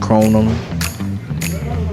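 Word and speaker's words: Krónan: the house so we just walked into Crona so yeah it's pronounced kronum and it's one of the Iceland's cheapest grocery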